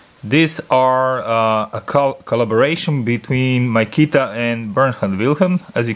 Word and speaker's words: Mykita: gonna misspell that wrongly, called Mykita. You can call it also Mykita, I guess, but I call it Mykita.